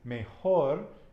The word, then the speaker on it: mejor: Precio is the price, P-R-E-C-I-O, and better is mejor, and it's with a J, like Joel is Joel.